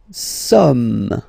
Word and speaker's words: sommes: Nous sommes, okay? Nous sommes, okay? So you don't pronounce the final S here. It doesn't exist.